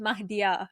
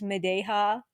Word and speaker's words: Mahdia: It's pronounced Mahdia, right? But like the way that they pronounce my name is Medeha or like Mahdia. Like there's a lot of A's, there's a lot of H's. It's like Mahdia, Oh my gosh.